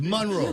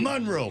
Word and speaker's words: Monroe: It's not. It's pronounced Monroe. Monroe, it is. What, Monroe, you said? Monroe. It's Monroe, yeah. Yeah. That's the way they pronounce it. Listen, I had to learn when I got there. It's pronounced Monroe. It ain't Monroe. It's Monroe. So out by Squirrel Lake